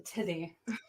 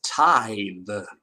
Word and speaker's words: The Tithe: two dollar book or the to the the titty uh the correct pronunciation is tie the oh yeah oh my God you're correct oh